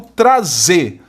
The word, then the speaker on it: trazer: Eu quero analisar o verbo trazer. E veja que a sílaba tônica é essa aqui, olha. Trazer. Qual é a sílaba tônica? É a última.